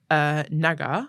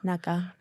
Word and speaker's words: Naga: Yeah, of the Saudi film Naga. Naga. Which, yeah, I think that's also the pronunciation because it's spelled with a cough.